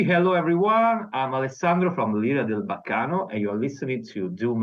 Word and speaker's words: L'Ira del Baccano: Can you pronounce for me the name of the band, please? Yes, of course. It's Lira del Baccano.